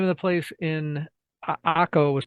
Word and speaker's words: Akko: We ate hummus in a town called Akko, which Americanized, it's spelled acre, A-C-R-E.